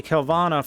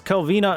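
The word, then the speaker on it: Kelvena: And then once eventually Kvana falls, at least I believe or Kina, sorry I had her name wrong. Uh once Kelvina eventually falls, we'll just unleash big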